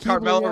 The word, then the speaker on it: Carmella: God damn it, I love Carmella. Rhymes with caramel. Anyway. The gif of him in the chair going crazy with the smile. He's looking at Carmella running down the ramp.